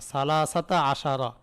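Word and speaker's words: ثَلَاثَةَ عَشَرَ: ফাতার উপর মাপনি হবে যেখানে আমরা উচ্চারণ করব আমাদের উচ্চারণ করতে হবে আহাদা আশারা। সালাসা আশারা। সালাসাতা আশারা। আর বাতা আশারা। খমছাসাতা আশারা এরকম। তাহলে উভয় অংশের মাঝে কি দিতে হবে? ফাতা দিতে হবে।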